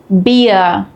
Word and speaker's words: Bier: EI is pronounced like I and IE is pronounced like E. A simple trick to remember this is to pay attention to the second letter in the pair. It's always the second letter that's going to give you the clue. So if it's EI, it sounds like the English I. If it's IE, it sounds like the English E.